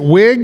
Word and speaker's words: Wiig: 1973, Kristen, is it Wiig?